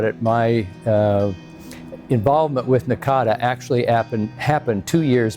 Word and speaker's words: NACADA: organization had been chartered we argued about how to pronounce in a CA da and people still use nakida and Nakata Nakada you know different kinds of pronunciations there probably more that they've used as well but we settled on Nakata as the quote official publication well thinking back